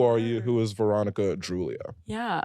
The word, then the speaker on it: Droulia: Yeah, I love how you pronounced my last name right. Oh, that's right? Yeah, nobody ever pronounces it correctly. I had an ex that always said Veronica Derulo. That's like Jason Derulo.